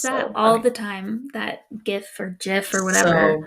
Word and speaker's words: GIF: graphic is a G sound, so it should be hard GIF.